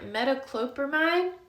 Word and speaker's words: metoclopramide: moving, he is on metoclopramide. Metoclopramide, I believe is how you pronounce it, which is this one that he was trying to break in just a minute ago.